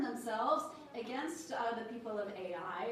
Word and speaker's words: Ai: against the people of AI is usually how it's uh pronounced which is kind of funny.